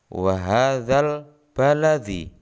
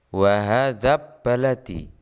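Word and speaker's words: وَهَٰذَا الْبَلَدِ: Cara membacanya wa hadzal baladi. Jelas, alnya dibaca jelas, bukan wa hadzab baladi. Jadi dalam bacaan alif lam qamariyah ini huruf lam dibaca jelas.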